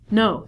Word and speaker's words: know: we reduce this to know so not only the beginning letter K is silent but W is also silent so instead of saying